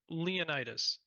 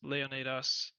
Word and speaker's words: Leonidas: So Leonitis or everybody anybody who knows anything about Greek history or Sparta has probably heard of Leonitis. Leonatas the more proper way to say it.